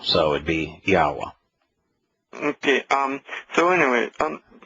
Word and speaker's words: Yahweh: or W in uh in Hebrew is pronounced like the English o so it' be yahwa okay um so anyway